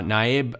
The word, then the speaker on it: Nayib: Now, Nayib Bukele actually is how you pronounce it.